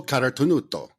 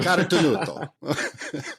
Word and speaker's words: Carotenuto: Today, we've got Angelo Carotenuto, founder and owner and co-owner of LivTours. Angelo, did I say it right? Yeah, you actually did, Jason. Yes, thank you. Carotenuto.